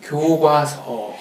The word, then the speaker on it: 교과서: 교과서 아니 정확한 발음은 교과서.